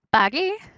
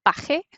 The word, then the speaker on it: pagué: Pagué, en vez de pagarse, pagó. O sea, la G antes de E se pronuncia G, como gente. Así que para que no sea paje, se inserta U.